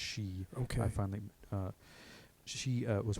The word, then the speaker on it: Hsu: I should say H Hsu yeah but it's pronounced she okay I finally she was working for safety